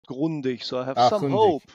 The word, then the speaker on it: Grundig: And I have some evidence for that, because you said Grundig. Now, on that one, I can tell as a German, it's called Grundig.